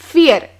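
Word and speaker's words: fear: पी यह leap है लेकिन एफ ई ए आर यह फिर नहीं इसे हम कहते हैं फियर फियर मतलब डर टी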